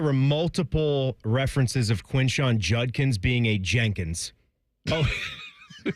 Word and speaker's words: Judkins: I swear there were multiple references of Quinshon Judkins being a Jenkins. Oh, it's Judkins. It's really Judkins. You say it exactly how it's written out on that jersey. J-U-D Judd K-I-N-S Kins.